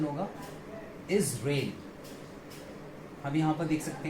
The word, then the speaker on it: Israel: किया हुआ है और इसका सही प्रोनाउंसिएशन होगा इजराइल. और इस पोर्शन को हमें यहाँ पर स्ट्रेस देके बोलना होगा इजराइल. ओके. अक्सर इसको लोग गलत प्रोनाउंस करते हैं और वो इसको प्रोनाउंस करते हैं इजराइल. कई बार इसराइल भी बोल देते हैं जो कि दोनों ही पूरी तरीके से गलत है.